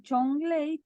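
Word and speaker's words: 种类: Y acá el chong, lei tiene tono 3 y 4. Vos podés poner los tonos así, como 3 y 4, ¿sí? Ajá. Se entiende que el tono va a recaer sobre la vocal O y acá ley, sobre la E, siempre en la vocal del medio.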